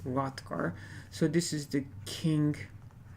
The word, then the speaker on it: Hrothgar: So the king of the Danes, Hrothgar, The H here is silent as far as I know, so it's pronounced Hrothgar.